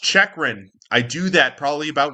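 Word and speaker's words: Chychrun: all season long I've been calling him Jacob kikran his last name is pronounced chechan I do that probably about once a year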